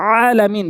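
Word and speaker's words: العالمين: এরপর আসুন এরপর হচ্ছে আইন আইন এই হরফটি আমরা এভাবে বলি সূরা ফাতেহার ভিতরে আছে যেমন আলহামদুলিল্লাহি রাব্বিল আলামিন বলি বলতে হবে আলামিন ভর দিয়ে হলকের মাঝখান থেকে আইন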